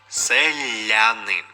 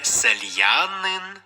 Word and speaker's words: селянин: коли промовляєш слово тобто коли ми кажемо наприклад селянин я - це лише а селянин не сельянин відповідно я в цьому